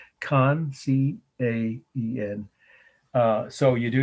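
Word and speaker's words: Caen: city in france but it's it's khan it's how you say it actually c-a-e-n con c-a-e-n uh so you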